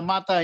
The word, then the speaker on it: mata: meet again later on like mother is a MATA in Hindi word same pronunciation Mata I see you again